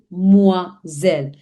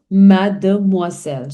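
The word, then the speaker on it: mademoiselle: So whenever there is S surrounded by two vowels, it gives the sound of Zed. As I've already explained in my previous lessons also misel.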